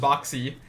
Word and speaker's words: Boxy: It's just boxy.